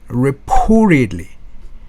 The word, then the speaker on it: reportedly: Reportedly. 자, T가 부드럽게 플랩 현상이 돼서 르가 됐죠. Reportedly. Stumbled upon.